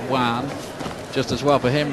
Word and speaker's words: Joan: It looks like Joan Guzman when you look at the name on paper, but it's pronounced Juan.